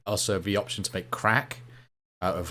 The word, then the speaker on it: CRAK: There's also the option to make crack out of like, it's spelled CRAK.